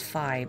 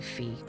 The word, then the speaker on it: Fi: I I know it's I think it's pronounce fi but I always say fee whatever I have an